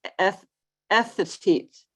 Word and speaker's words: Ethete: And anyway, it's Ethete, Wyoming, is how it was presented to me.